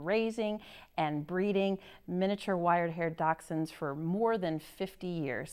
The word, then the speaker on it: Dachshund: Pronounced Dachshund, it means badger dog in German.